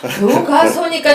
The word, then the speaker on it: 교과서: 교과서니까 정확하게 발음을 하고 시작을 해야지.